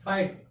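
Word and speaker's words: fight: फाइट, इसमें क्या है, वर्ड के लास्ट में GHT एक साथ आया, इसमें से GH क्या हो जाएगा, साइलेंट हो जाएगा।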